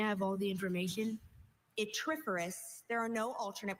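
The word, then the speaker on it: yttriferous: Your word is atiferous. May I have all the information? Itiferous. There are no alternate pronunciations.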